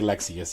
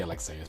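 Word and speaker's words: Lexaeus: okay they do say they do say lexius yeah I say Lexus but whatever yeah lexius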